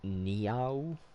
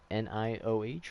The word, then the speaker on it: Nioh: And then now I'm hearing that there's Sekiro and Nioh, Nioh, or is it Niah? I don't know how you say it. Nioh, right? Like Neo, but just spelled differently.